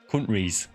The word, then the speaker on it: countries: Yeah, the the T is silent in countries if you're if you're from here. countries.